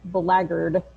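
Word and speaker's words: blackguard: does look like black guard but it is pronounced the laggard it's very weird and honestly i think of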